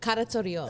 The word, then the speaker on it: Karatsoreos: That's how you say it. But it's pronounced Oreos.